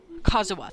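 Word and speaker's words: Kazuha: kaisu no uh the wind wind Bard kazuwa thank you that's how you pronounce his name it is explained by Kazu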